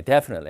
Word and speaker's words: definitely: 자, 틀리 발음에서는 T 발음을 하지 맙시다, 여러분. Definitely, shortly 이런 식으로요. 뭐 영국 사람들은 약간 하긴 한다 그랬죠, 제가. 근데 안 하는 게 좋겠어요. 우리가 들어야 되니까.